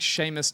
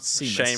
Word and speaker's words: Seamus: I think, Seamus, not Seamus. Seamus. I was going to say, it's Yep. the Irish names always get you.